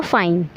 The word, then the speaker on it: f9: का नैक शेष f9 यहां पर इसको आप यूज करेंगे तो यह साउंड करेगा फाइन फाइन का मतलब होता